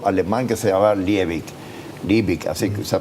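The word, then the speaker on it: Liebig: economista un biólogo alemán que se llama libic libic así se pronunciaba que lo aplicaba en biología pero se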